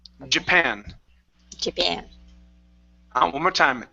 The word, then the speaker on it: Japan: Stress on the end. Japan. Japan. One more time. Japan.